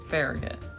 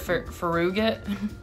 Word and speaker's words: Farragut: very good very good Farragut that's what anybody says that um I've heard a fairy god huh I've heard of faruget but there's no that's probably for somebody yeah I've heard I I've heard pharah got several times very good okay um